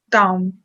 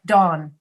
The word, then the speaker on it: dawn: in thorn let's see with the dawn dom ah i see you putting your lips together it doesn't end with an m you don't put your lips together here you just say dawn dawn yes that's it